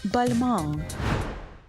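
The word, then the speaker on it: Balmain: модельєром п'єром бальмау в Парижі у 1945 році вимовляємо цей бренд правильно баmн свого часу для мене стало величезним відкриттям що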